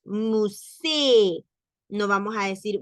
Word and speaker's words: musée: va tildada una E, ahí sí se pronuncia la E, y se pronuncia una vez, aunque esté escrita dos veces. Musée. No vamos a decir musee, porque solamente está tildada una vez.